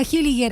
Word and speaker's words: Hilliger: ingresado y que estaban en irregularidad migratoria hilliger así se pronuncia tu apellido no O es más complejo